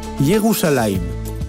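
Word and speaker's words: ירושלים: En hébreu, Jérusalem est prononcé Yérouim, la cité de la paix.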